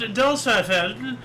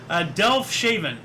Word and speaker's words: Delfshaven: 1620, Speedwell left Delshafen to bring pilgrims to America by the way of England. I'm going to have to try to pronounce that word again. Delfshaven. Okay, that's weird.